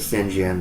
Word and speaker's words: St. John: And of course, some people pronounce it St. John because that's the way it would have been pronounced back then, but we'll just go ahead and say St. John.